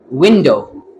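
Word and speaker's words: window: इसी तरह विंडो विंडो कुछ लोग इसको बोलते हैं विंडो विंडो डो जब बोलते हैं तो ये ज्यादा प्रॉमिनेंट होगा तो ये प्रोनाउंसिएशन गलत होगी। स्ट्रेस यहां पे शुरू में है। प्राइमरी स्ट्रेस है।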